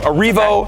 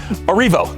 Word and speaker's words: Erivo: And Cynthia Erivo. Yeah. Erivo. See, I did say it wrong. Erivo.